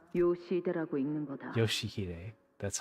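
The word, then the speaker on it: 良秀: Ryoshu? 아니, No. 그 글자는 That's 그렇게 not how you 읽는 게 read those 아니라 letters. 요시대라고 읽는 거다. Yoshihide.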